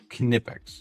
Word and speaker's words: Knipex: It is pronounced as German, so it's Knipex. So it is Knipex.